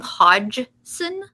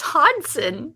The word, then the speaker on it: Hodgson: Are you still calling him Hodgson? Isn't it Hodson? No. Well, what is it? The G is silent. It's Hodson.